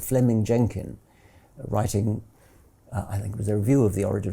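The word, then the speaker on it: Fleeming: Jenkin was simply it's written Fleming but is pronounced Fleming um Fleming Jenkin was simply saying manifest facts are impossible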